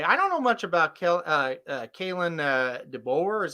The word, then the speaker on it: Kalen DeBoer: I don't know much about Kalen DeBoer, is how you say his name at Washington.